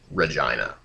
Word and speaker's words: Regina: i n a and it is pronounced Regina yeah we know so get your jokes out of the way so basically Omega flight